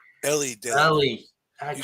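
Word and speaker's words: Elly: First of all, everybody pronounces it Ellie. Ellie did it.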